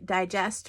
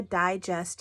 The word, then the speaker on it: digest: the second syllable digest if I put the emphasis on just then I mean to eat my food but if I were to say I read a digest yesterday that's a magazine and I put my emphasis on the first syllable digest digest the first syllable is die just so when you're reading